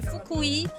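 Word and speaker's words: Fukui: Donc donc comme j'ai dit tout à l'heure, c'est foui. Foui, ça s'écrit en en latin, c'est F U K U I.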